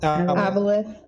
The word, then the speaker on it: Abeloth: Abeloth.